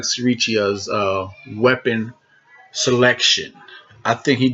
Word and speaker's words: Sirichai: I want to say sriracha, like the sauce, but it's no A in there, so it's Sirichai.